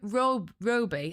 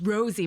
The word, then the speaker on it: Rosie: And he and he was mispronouncing my name every time like Roby. And I went, "No, it's Rosie."